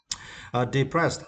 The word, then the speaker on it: depressed: Depressed, and for this word, you need to stress the second syllable, pressed. Depressed, this means very sad and without hope, right?